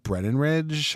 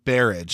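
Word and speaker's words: Berridge: If you don't know what the Funhouse is about, it's about this teenage girl, Amy, played by Elizabeth Brennanridge. How do you say her name? It's Barrage, sorry.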